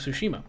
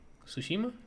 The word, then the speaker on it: Tsushima: Then they moved back to the actual press conference and another musical performance about Ghost of Tsushima. So after the musical performance, they went into Ghost of Tsushima. Tsushima?